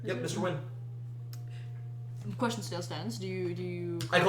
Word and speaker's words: Nguyen: I'm saying it's pronounced Win.